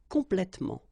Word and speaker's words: complètement: In most of the cases, you don't pronounce this here.